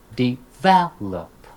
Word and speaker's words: develop: commonly mispronounced words plus this is a great opportunity to touch upon word stress syllable not word stress here but syllable stress right exam develop recognize determine right you